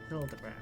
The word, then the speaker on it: Hildibrand: It's pronounced Hilderbrand.